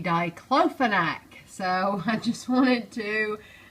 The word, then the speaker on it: diclofenac: up online that I said it completely wrong to cleaning you're supposed to say diclofenac so I just wanted to correct my pronunciation diclofenac